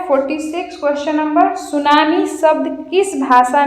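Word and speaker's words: tsunami: हो गया जापानी जापानीज सुनामी इसमें प साइलेंट होता है क्वेश्चन नंबर 47 निम्नलिखित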